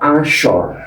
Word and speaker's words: Asyar: Tulisan aslinya salat Asyar. Dibacanya salat Asyar.